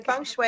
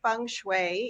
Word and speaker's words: feng shui: I say it right yes you did the Fung Shui is the way it's pronounced although you'll hear it pronounced different ways in you know in different countries yeah but here we say Fung Shui even though it's spelled f ing and people